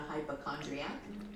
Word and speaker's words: hypochondriac: No, I'm not a hypochondriac. My mom could definitely be a hypochondriac. My mom is definitely a hypochondriac. What do they know? They don't even pronounce it right. Hypochondriac. There's no T.